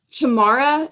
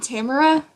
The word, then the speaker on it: Tamara: you're not apparently it's pronounced like tomorrow and not Tamara well i was thinking